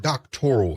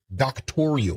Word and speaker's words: doctoral: And if you listen carefully, the word doctoral in this conversation becomes a sticking point because she can't even pronounce the word. She pronounces it doctorial.